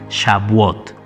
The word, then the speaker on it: Shavuot: Shavuot.